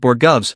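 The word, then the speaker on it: borogoves: And after hearing him talk about borovs, which by the way is the correct pronunciation, I stumbled upon a few interesting things worth sharing.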